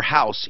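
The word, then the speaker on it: Haus: up on our website you can search regular house even though it's spelled H a us s go and just search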